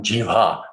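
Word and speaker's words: jihva: starting with the tongue like jiva not jiva j i v a but g hua g i h v a long a which means the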